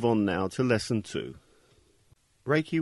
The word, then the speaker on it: Reiki: meaning universal life force although the proper Japanese pronunciation is raiki it has been westernized to Reiki Ray means Universal omnipresent